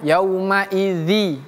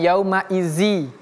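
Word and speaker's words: يومئذ: Jadi bacanya yaumaidzi bukan yauma izzi tapi idzi bukan izzi. Wailun yaumaidil.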